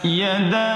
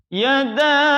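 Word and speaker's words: يدا: Kemudian yang kedua, yada abi. Itu boleh dibaca 2 harokat atau 2 ketukan dan boleh juga dibaca 4. Mengapa demikian? Karena di situ ada huruf alif, yada ada alifnya, dan itu adalah huruf mad bertemu dengan hamzah di kata abi. Huruf alif, huruf mad bertemu dengan hamzah dalam 2 kata, maka boleh dibaca 2 ataupun boleh dibaca 4.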